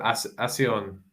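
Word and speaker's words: ASEAN: Are you familiar with Asion? Asion? No. That's the right pronunciation.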